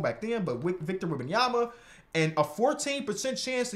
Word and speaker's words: Wembanyama: I pronounced his name wrong back then, but Victor Wembanyama.